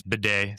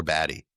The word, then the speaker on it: Batty: Yeah, it's bidet. Sounds like it really bidet? Like, it's literally the butt cleaning, washer. I mean, I always thought it was like Tyler Batty. Yeah, as we did too, but he corrected bidet.